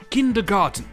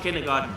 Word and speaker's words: kindergarten: Et on commence dans un pays près de chez nous, l'Allemagne, avec le mot kindergarten.